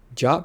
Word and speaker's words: JWT: i refer to it where was i um jot parsers must either reject jots with duplicate claim